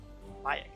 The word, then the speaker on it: Mayak: Mayak, that's the pronunciation.